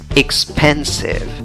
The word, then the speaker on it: expensive: Bueno, la fuerza de voz va en la segunda sílaba de izquierda a derecha. Expensive, expensive, expensive, expensive.